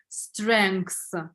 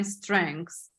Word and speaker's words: strengths: oh okay uh strength there is a little bit different difference in in writing and uh pronounce because there is no K but you uh uh strengths strengths yeah yeah a little bit difficult I agree but anyway strengths okay